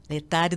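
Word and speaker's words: Laetare: Padre Antônio, mas ajuda a gente aqui, explica, aproveitando esse podcast, assim, esse domingo Letare, é assim que se pronuncia? Letare, Domingo da Alegria.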